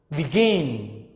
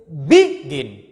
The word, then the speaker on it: begin: Begin. So stress in the second syllable. You cannot say begin. No, begin. So begin, you stress at the second syllable, and then before you